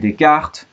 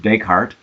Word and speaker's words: Descartes: I feel like we've just begun the class and we're already talking about René Descartes, or as we say in English, Descartes.